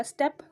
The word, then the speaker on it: steep: इसका जो प्रोनाउंसिएशन होगा STEP का होगा स्टेप और STEEP का होगा स्टेप, यानी कि थोड़ा ए को खींचना पड़ता है।